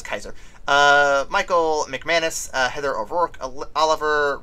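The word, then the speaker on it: Kiser: speaking of which, the cast includes James Caron, Zelda Rubinstein, however you want to pronounce that, Richard Lawson, Martin Casella, Virginia Kaiser, or Kisser? That's Kaiser.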